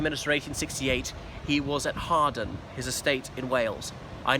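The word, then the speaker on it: Hawarden: first became prime minister 1868 he was at hardin his estate in wales i know it's spelt howard but pronounced harden where he was chopping trees and the news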